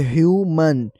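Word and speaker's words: human: इनकी प्रोनाउंसिएशन में थोड़ा सा डिफरेंस है। अगर उर्दू साउंड देखें तो ह्यूमन। ह्यूमन और दूसरा है ह्यूमैन। पहले में ह्यूमन और दूसरे में ह्यूमैन। फर्क एंडिंग साउंड और स्ट्रेस में है जो सुनते ही क्लियर लगता है।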